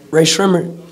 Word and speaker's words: Rae Sremmurd: Рэй Шреммерт, like gray, it rhymes with gray lizard.